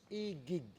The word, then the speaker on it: Iguig: Igig. Igig. Igig. Igig. Yes. That's the correct way to say it. Igig. Igig.